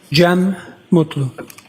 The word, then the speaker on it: Jem Mutlu: Jeem Mutlu.